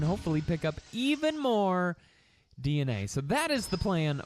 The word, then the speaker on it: DNA: Dina, it was hilarious to us how many people were like, it's not actually pronounced Dina, it's DNA.